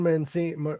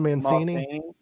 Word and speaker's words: Mancini: foreign no and it proved that uh don Manson how do you pronounce his name Don Mancini obviously yeah he's the original writer of Child's